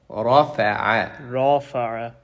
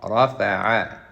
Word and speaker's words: رفع: It's not rafa. رافع. There's no alif. عين فتحة ع. رفع. نعم. Rafa'a. Soften the ain.